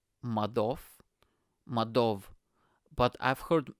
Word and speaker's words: Madoff: If it's in Eastern Europe, it'll be OV, Madoff. You know, like I've heard Madoff. So his surname Madoff is pronounced Madov, but I've heard Madoff.